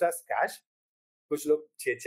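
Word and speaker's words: cache: जो ये ये लिखा हुआ है कैश। So this is pronounce S कैश।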